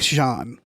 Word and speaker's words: Jean: Uh, like you know, French John with like spelled like jeans but without the s but not like Jean Luke Jean. No, no, that one. Yeah. J E an Jean Rabin.